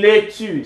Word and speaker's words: laitue: you know that already, une laitue, sounds like English, right? Lettuce, une laitue, une tomate, une carotte, see how it is spelled in French.